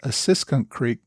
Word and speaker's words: Assunpink Creek: It's brought to my attention that last week I referred to Assunpink Creek. The correct pronunciation, I am told, is Assunpink Creek.